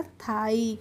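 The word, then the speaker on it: thighs: हो जाएगा थ, और आई जी एच का हो जाएगा आई, तो ये हो जाएगा थाई।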